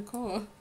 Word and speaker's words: Chao: Keith did something to land himself in the Koa. Some kind of acronym or something that we're invoking. So it's spelled CHAO, so you would have to create an acronym that starts with those letters.